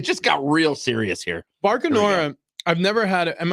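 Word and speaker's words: Bacanora: Barcanora, I've never had it. Am I pronouncing that correctly, by the way? Barcanora.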